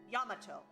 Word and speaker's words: Yamato: Because I know that Japanese just says ah. Ya. Okay. Yamato.